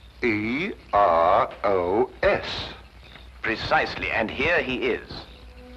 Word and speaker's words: Eros: influence of Cockney stagehands she added an H where there shouldn't have been one what then spell it as she spelled it but without the H e r o s precisely and here he